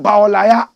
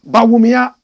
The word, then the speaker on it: Bawumia: sister this is Bia some people have turned his name around and they call him Baya correct pronunciation Bia this is the fine